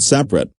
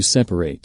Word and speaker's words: separate: carefully i need to separate my mail we have separate bank accounts notice that the word separate in the previous sentences does not sound the same there is a rule